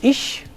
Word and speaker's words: ich: say mutter but muta an interesting phoneme which is often used as an example of complementary distribution is the phoneme that has the two allophones here and her as in ich where the palatal fricative occurs after a front vowel and back where the